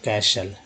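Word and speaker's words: castle: खैर क्या पढ़ते हैं कैशल, क्या पढ़ते हैं कैशल। टी को साइलेंट कर दिया गया तो टी जो है साइलेंट हो गया, टी जो यहाँ भी साइलेंट हो गया।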